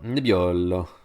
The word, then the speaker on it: Nebbiolo: you just want to impress anybody, please do pronounce these things this way. Say Piemonte and Barolo and Barbaresco. Barbaresco. Nebbiolo.